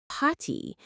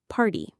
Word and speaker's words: party: We don't say potty. We say party or 30.